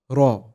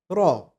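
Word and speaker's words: راء: To pronounce it correctly, just place the tip of your tongue behind the front two teeth of your upper jaw and touch it and drop it while pronouncing the letter. How? Raw. Raw. Raw. Don't curl up your tongue like this and say raw. Raw raw, which is a common mistake. Just keep the tongue straight and firm and say raw.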